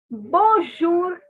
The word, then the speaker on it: bonjour: okay do one thing repeat after me the word measure in english measure okay now take the sure from that okay so you have to pronounce that sure over here so okay please don't